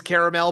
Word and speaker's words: caramel: He said the right way to say it is caramel, but I say caramel, I think. Okay, I say caramel. so cool. It's a regional thing, so don't make fun of me.